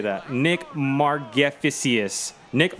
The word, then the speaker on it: Margevicius: Nick Margevicic. Nick Margevicic. I have no idea how to say that. Nick Margevicius. Nick Margevicius.